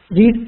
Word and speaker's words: read: and simple past she read a book y as when it's passed we will read it as she read the book okay the pronunciation will be as in the color red okay okay ma'am the